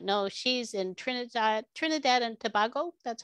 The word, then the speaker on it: Trinidad and Tobago: I know Phoenix you may not know, she's in Trinidad and Tobago. That's how you pronounce it?